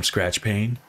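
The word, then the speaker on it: Skratch Paine: I am Skratch Pain. Skratch with a K, Pain with a silent E at the end.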